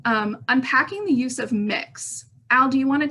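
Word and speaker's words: Mx: ms but that is gender neutral it is pronounced mix um and um and i have um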